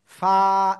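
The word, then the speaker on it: ف: যাবে তখন এভাবে একটা এক নুক্তা ঠিক আছে ফা এক আলিফ টান হবে সবাই লিখে ফেলেন দ্রুত দ্রুত اللہ ওকে সবাই এটা উচ্চারণ করেন জোরে জোরে ক না ফা নিচের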